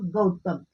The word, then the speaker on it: गौतम: एंड ग, इसका pronunciation होगा गौतम, क्योंकि जी के बाद ए है तो ये होगा हार्ड साउंड।